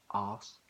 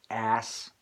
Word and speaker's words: arse: Of course the Americans would say bottle and glass, ass, but the Brits always pronounce it with the R. In fact, it has an R in the word. The Americans just spell it A-S-S, but we spell it A-R-S-E.